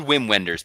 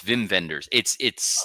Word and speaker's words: Wim Wenders: It's spelled Wim Wenders, but it's Wim Wenders.